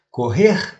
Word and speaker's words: correr: Aquí mucha atención con la pronunciación correcta de la palabra correr, que es un verbo oriundo de corrida. Bueno, se lo expresa exactamente como lo hace en portugués, correr, el significado adquiere una